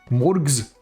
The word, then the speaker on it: Morgs: mors more mors and a hard G not a soft one so there's no confusion morgs thank you I would